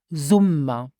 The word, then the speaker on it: Summer: is the summer is the zum and pronounce it zumma the zum the fall